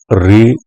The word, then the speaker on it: ऋ: एक विद्वान री को शुद्ध स्वर नहीं मानते, क्योंकि इसका उच्चारण री अर्थात रा प्लस ई किया जाता है, अर्थात यह व्यंजन और स्वर का संयुक्त रूप है।